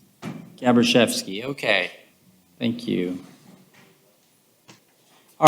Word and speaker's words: Gabriel: apologize for mispronouncing that tell me how to pronounce your name sir gabriel okay thank you all right so i have